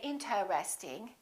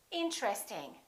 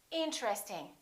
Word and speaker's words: interesting: Most people don't say interesting. They say interesting. Interesting. This TR are connected.